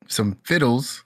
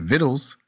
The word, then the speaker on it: vittles: And he came over, you know, for some fiddles. Is that how you say it? Vittles.